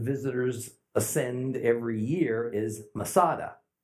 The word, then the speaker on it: Masada: ascend every year is Masada Masada is merely a Roman way to pronounce the Hebrew word met sudah fortress high